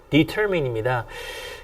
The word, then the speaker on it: determine: 정말 많은 고등학생들이 이걸 자꾸 determine 또는 determine이라고 발음하는데요. determine입니다.